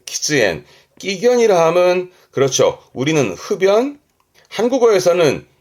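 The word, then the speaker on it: 喫煙: 그래서 발음이 키즈엔 키즈엔 끼견이라함은 그렇죠.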